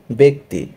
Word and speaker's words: ব্যক্তি: পেরেছ দুই নাম্বার নিয়মটা খেয়াল করি জ ফলার পরে ই ধ্বনি থাকলে জফলা এ উচ্চারিত হবে এ মানে একার এক্সাম্পল দেখি ব্যক্তি বয় জফলা এরপরে রস ই অথবা ই কার যাই থাকুক সেক্ষেত্রে আমরা সেটাকে এককারের মত উচ্চারণ করব যেহেতু জফলার পরে ঋষিকার আছে তাই বয় জফলাটা কি হয়ে যাবে এককার বেক যেহেতু থেমে যাচ্ছে হসন্তৃত